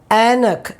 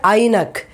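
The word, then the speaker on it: ऐनक: It is not I, it is A. Okay? We say Anak. We don't say Ainak. We don't say Ainak, it's Anak. Okay?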